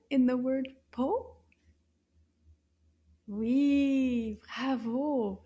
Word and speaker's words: pot: Po. Correct. Une syllabe. Po. Can you find the O sound in the word po? Oui, bravo. And remember, the T is silent.